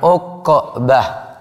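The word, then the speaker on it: عقبة: Ainnya di dhamma, qafnya disukun, jadi bacanya uqbah.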